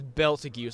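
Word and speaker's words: Betelgeuse: It's definitely a B sound. Yes. I was being a dumbass for trusting that damn wiki. Yeah, it's Beltigus. Although I heard somebody call him Beetlejuice. Well, that's how it's spelled. In the web novel, it's spelled Beetlejuice. Beetlejuice, but yeah, he's Beltigus. Because everyone, go on.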